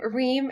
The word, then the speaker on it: Reem: It rhymes with my name, Reem Extreme.